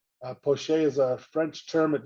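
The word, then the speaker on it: poché: the drawing that is referred to as poche poche is a french term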